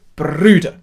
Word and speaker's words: Brüder: So, Brüder. That's the one with the accent on there. Really give that some welly.